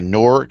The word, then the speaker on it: Newark: mean to call it Newark, right? So I'm trying to say it like they do in fucking Letterkenny. Newark. Like Stuart.